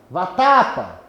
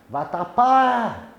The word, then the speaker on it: vatapá: Vatapa. Eu distorço a pronúncia. Agora aqui você pode ficar roxo, perder todo o ar do seu pulmão e a palavra não se distorce. Vatapá.